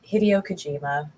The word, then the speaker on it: Hideo Kojima: I feel like I was always going to say his name wrong. Hideo Kojima.